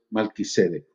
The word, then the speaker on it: Melquisedec: palabra juramento de melquisedec en realidad se debería pronunciar mal que se dé mal teaser pero bueno ustedes saben eso y vamos a usar indistintamente eso todo el nombre aunque lo más correcto es mal quise de entonces mencionando eso acerca de